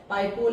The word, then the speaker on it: Paika: द पाइका rebellion और पाइका विद्रोह वाज one such uprising and पाइकास pronounced as Paiko, literally foot soldiers, were a class of military retainers who had been recruited by the Gajapati ruler of Odisha, right?